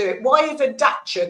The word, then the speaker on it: Dacia: Why is a dacer called a dacer when it's spelled dacia?